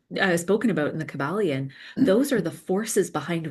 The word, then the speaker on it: Kybalion: I've got the Kybalion. Is it Is that how you pronounce it?